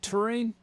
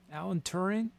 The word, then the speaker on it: Turing: i saying all right i think it's just turing turing alan turing i don't know how to pronounce it look it up t-u-r-i-n-g test you